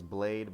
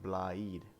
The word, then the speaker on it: Blaidd: our friend blade blade i always think his name was blade but it's like blaheed so it's like blind if you say blind you're saying it right but yeah so there's